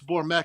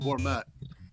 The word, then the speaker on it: Bourmet: And yeah, no, it's Bourmet, guys. So, and I make sure he knows. And no disrespect, that's our guy. It's Sean Bourmet. So Bourmet.